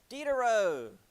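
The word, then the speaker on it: Diderot: Dero. Uh, D. Dero. Because again, French, so we don't pronounce half of it.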